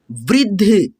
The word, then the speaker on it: वृद्ध: ठीक है, ध को मिला करके पढ़ना है, आधा द को ध में मिला करके उच्चारण करना है, तो पढ़ेंगे क्या, वृद्ध, वृद्ध, आधा द ध, वृद्ध, ऐसे।